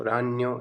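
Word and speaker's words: ragno: रान्यो ये हो गए स्पाइडर, मकड़ी, तो उसको हम बोलेंगे रान्यो। और बहुवचन है, एक से अधिक है, जैसे मकड़ियाँ तो रान्नी। जी हमेशा साइलेंट रहता है ज़्यादातर वर्ड्स में, तो रान्यो रान्नी इस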